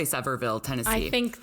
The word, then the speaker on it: Sevierville: We'll just say Sevierville, Tennessee. I think it's something like that. Yeah, I doubt it's French. I doubt they pronounce it the French way. Sevierville.